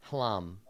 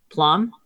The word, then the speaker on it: Hlam: Hlam. Plum? Hlam. Hlam. Oh, Hlam. Yes, not an easy thing for me to pronounce in a way that any person could understand. HLAM. Yeah. I heard right. plum. I know, right? Because that's a word, and hlam is not.